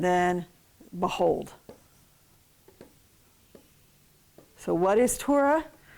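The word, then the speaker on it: תורה: the right Salah Bowl we get Torah instead of tora tora tora give me some torah I've been saying it Torah for so long now but it's hard to say it any other way okay but get your accent on the second syllable okay so it's too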